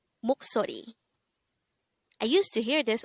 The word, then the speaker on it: 목소리: hango word number 190 this is pronounced as a three syllable word the first syllable is mo second syllable is so and third syllable is re pronounce it with me the word moksori is the korean noun